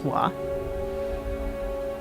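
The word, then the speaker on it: は: So like batashiwa it's going to use that ha looking particle but it's actually pronounced as wa.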